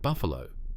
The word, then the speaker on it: Buffalo: In November 1971, Vulov entered the United States through the Canadian border at Buffalo, pronounced Buff Alo, New York.